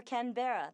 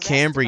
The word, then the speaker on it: Canberra: i do sydney or canberra the capital it's not pronounced canberra you bloody person well i want to